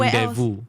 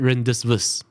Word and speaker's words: rendezvous: before the teacher teach me oh before everyone rendezvous and this word i threw it to an english teacher she pronounced it renders verse you can imagine the difference that of exposure